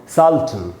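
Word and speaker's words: sultana: तो अब इसको पढ़ेंगे सल्टन, और इसमें आ पर स्ट्रेस है सल्टाना।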